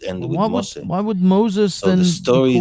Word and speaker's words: Moses: him Mose, and that we don't say Moses, we say Moshe. But the modern Israeli mispronounce Moshe. It should be closer to an S sound. Yes, which is closer to the Egyptian.